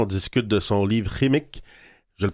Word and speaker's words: Qimmik: On est avec Michel Jean, on discute de son livre Rémique. Je le prononce bien, là?